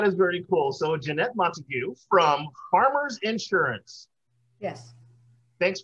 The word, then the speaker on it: Montagu: It's Montagu. It's Montagu. It's Romeo's last name.